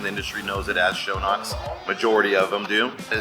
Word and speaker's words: Schönox: Schönox actually is pronounced Schönox. That's the correct pronunciation. The industry knows it as Schönox.